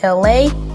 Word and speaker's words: LA: what's up world, it's me, LA, pronounced like LA like the city.